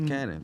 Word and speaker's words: Cvnnon: It's spelled Cvnnnon. It's Cannon, but you know the upside down.